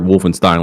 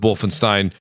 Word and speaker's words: Wolfenstein: what they did with Wolfenstein and wolf I always say it wrong Wolfenstein Wolfenstein I always get those confused nonetheless I Ste it is Stein thank you very much Stein Stein uh but the